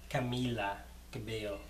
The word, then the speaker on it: Camila Cabello: So this is a Camila Cabello cover and a Guerra from OT 2017 Gala 12. I am in love with Camila Cabello, so like, well, Camila Cabello, that's how you say it.